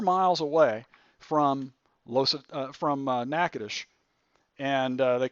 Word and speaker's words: Natchitoches: it's spelled Natchitoches how do you think you spell that na TCH i toc h es no i doesn't look anything like Natchitoches but anyway it looks like nacho cheese all